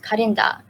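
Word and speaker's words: カレンダー: And for example, other words include calendar, which is called karenda, and drive-through, which is doraibusuru. Where even though the pronunciation is different, you can see that they just directly took it from the language.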